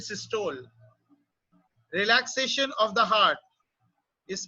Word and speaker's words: systole: Actually the correct pronunciation is systole, but India में अगर हम बहुत ज्यादा करेक्ट प्रोनाउंसिएशन करेंगे तो लोगों को बात समझ में भी नहीं आती है. So the contraction of heart is called systole, but we will call it systole.